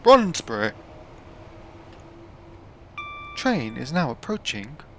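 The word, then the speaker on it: Brondesbury: And always thought, how do you say that? But then, of course, you got the tannoy woman saying, Bronsbury. Train is now approaching Bronsbury.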